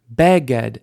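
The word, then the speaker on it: בֶּגֶד: H behold na please beged initial stress with these nouns with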